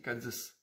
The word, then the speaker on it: Cádiz: Oui, on ne dit pas Cádiz, on dit Cádiz. J'y peux rien, c'est la prononciation.